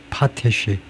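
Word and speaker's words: potash: 캐나다와 러시아가 1등 2등이고 그다음에 포타시 예에 포타시가 두 번째 실러블에 엑센트가 있는 거 같은데 액센트 위치부터 확인하셔야죠. 이 발음에 있어서 가장 중요한게 엑센트의 위치입니다.이 스트레스의 위치가에 모음 발음을 결정하기 때문에에 그 그래서 지금 그 발음이 안 나와 있어요. 또 얘가요. 얘가이 무식하게에 발음은 어떻게 되느냐 하면 발음이 어떻게 된 거야. 발음이 그런데 예. 발음이 파타시 파타시 파타시 파테시 영국은 파테시 미국은 파테시 둘 다 뭐 같네요 둘 다 파티시 그래요 파티시음 파테시라고 발을 하네요 파테시 파테시라는 단어가 근데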